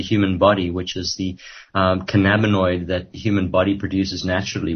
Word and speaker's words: cannabinoid: the using they can cannabinoid is that how you say it which is a molecule okay uh well yes principally that that's the